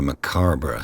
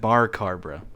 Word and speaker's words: macabre: that'll that'll comfort everyone are you supposed to pronounce the r in macabre the the funny thing about that is the r is at the end but he put the r in the middle he said bar kharbra he added he added an r yeah he pronounced the